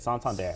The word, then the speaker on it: Santander: bank uh santon there that's how you say it santander santander santander we have